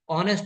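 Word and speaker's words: honest: जितने में भी वोवेल साउंड होता है चाहे ऑनेस्ट में ये ऑनेस्ट नहीं पढ़ते ऑनेस्ट पढ़ते हैं इसलिए एन आया यहां पे ठीक है ए इ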